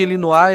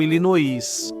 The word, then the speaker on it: Illinois: grafia francesa do nome, mas mudou a pronúncia. Em vez de elinoar, eles ficaram com ilinoí, mesmo que isso também